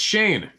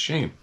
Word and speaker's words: Cheyenne: My name is Cheyenne. Oh. Shane. Oh, sorry. Pronounced Shane. C-H-E-Y-N-E. pronounced Shane.